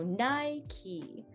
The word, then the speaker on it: Nike: be a very high very y like eye and the the k e here is exactly like a key that we put into a door so nye key instead of maybe um the british pronunciation is nike um and i hear